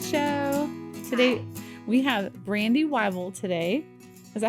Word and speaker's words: Wyble: Today we have Brandy Wyel today. Is that how you say it? Wible.